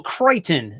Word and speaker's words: Crichton: correct some people's uh he has a weird spelling based on how it's pronounced it's c-r-i-c-h-t-o-n michael crichton it's pronounced michael crichton is uh how you say his name all right movie number